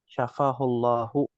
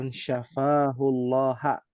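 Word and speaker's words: شفاه الله: manlti maakum Iya ini jangan sampai salah baca harakatnya syafahullahu Ya bukan syafahullaha ini bahaya Um kalau bacanya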